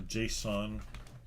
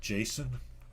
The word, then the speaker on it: JSON: referred to package.json or json see i always pronounced it jason but then you know over time you could just hear people in the community pronouncing it json why would they pronounce it json i don't know anyhow